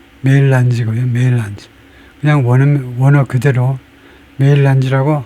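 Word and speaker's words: mélange: 이것은 빙하 이야기할 때 나오는 멜란지가 아니고 메일란지라고 읽네요. 영어에서는 메일란지라는 단어는 우리말로 아이스 멜란지, 빙체 혼합되다. 그래서 아이스 멜란지라고 그럽니다. 영어식 발음은 메일란지고요.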